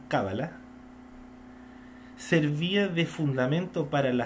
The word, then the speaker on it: cábala: La cábala, ahí está con el acento en la cábala, servía de fundamento para la astrología, la nigromancia, así está escrito, nigromancia, y demás ciencias ocultas.